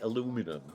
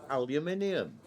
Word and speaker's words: aluminium: I mean, how can that be aluminum? It's aluminium.